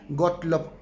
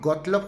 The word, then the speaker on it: Gottlob: Hay otro autor por ahí que vamos a platicar, Gottlob, se escribe Gottlob, G-O-T-T-L-O-B, Gottlob Frege, Gottlob Frege.